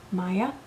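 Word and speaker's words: Maia: Um, another kit company that I do like is um, Maya. That's spelled M A I A.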